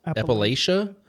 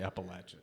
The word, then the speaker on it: Appalachia: First of all, Appalachia? Well, it depends on where you're from. Either right? way. If you're from Appalachia, you say Appalachia.